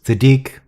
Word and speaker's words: Sadiq: Now it's Sadiq, emphasis on the Deek, al-Tahir, al-Fadil, Sadiq Abdurrahman Muhammad Ahmed Abdul Karim al-Makhdi.